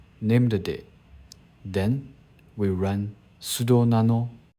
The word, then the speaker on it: named: The name named comes from name. Daemon, we can pronounce it as named.